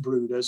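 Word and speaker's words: Bryde's: brood as well it spelled bride's well but pronounced brooders it's a rare tropical whale and it has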